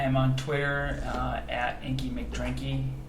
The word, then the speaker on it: McDrinky: I am on Twitter at Inky McDrinky. Is that Mac Drinky or Mick Drinky? McDrinky, Okay. spelled like how it sounds.